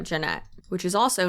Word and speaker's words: Jeanette: videos Jesse and Lily mocked attorney Brun by mispronouncing her name Janet instead of Janette which is also not